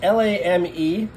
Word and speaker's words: lame: This is, I think I pronounce it lame. It's L-A-M-E. I'm sure the French say lame. I'm just going to call it lame because it's kind of lame.